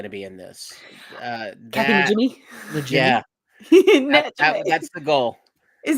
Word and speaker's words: Najimy: Kathy Najimy? Yeah. That's the goal. Is that how you say it? I've heard it Najimy. I've heard it Jimmy.